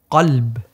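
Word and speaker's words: قلب: In Arabic, it's called qalb.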